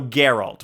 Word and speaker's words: Geralt: Okay, so Geralt with a hard G.